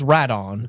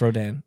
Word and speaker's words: Rodan: to pronounce that uh it's radon and I'm like no it's a no yeah yeah it's Rodan and they're go like yeah yeah it's okay so we'll go we'll go see Ro we'll go see radon I'm like no I've corrected you three times someone's name yeah yeah